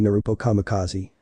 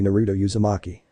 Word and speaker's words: Naruto Uzumaki: amber-coated mare Sunshine Shatter, and you must be Naruto Kamikaze. My friend's name is Sunset Shimmer, and it's actually Naruto Uzumaki.